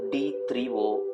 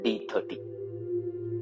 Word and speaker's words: D3O: my dear friends and this is called d3o and not d30 please take it from me because i've seen so many people pronouncing this as d30 and not as d3o so please correct it